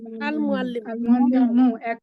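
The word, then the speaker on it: المعلم: আল মুআল্লিম আল মুআল্লিমু। তাহলে মিম কি কমারি না শামসি? কামারি।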